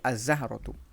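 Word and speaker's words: الزهرة: রজুলুন থেকে আর রজুলু, র, এখানে সরাসরি উচ্চারণ হচ্ছে, লাম উচ্চারণ হচ্ছে না। সাআতুন থেকে আস-সাআতু, এদিকে জাহরতুন থেকে আজ-জাহরতু।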